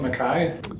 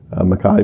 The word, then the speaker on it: MacKay: but you pronounce it Makai yeah Makai my father's Australian and they held on to the Scottish pronunciation so Makai but it's the same